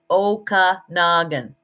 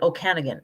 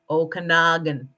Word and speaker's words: Okanagan: with our friends and it's pronounced okanagan i've several people on american tv shows have called it okanagan ah no okanagan um and then we